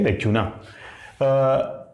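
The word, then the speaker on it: lacunae: दोष, कोई यानी कोई चीज बीच में अधूरी रह गई है उसको हम लोग बोलते हैं लैक्यूना।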